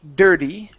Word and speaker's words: dirty: Okay, so here that's going to be a flap T, dirty.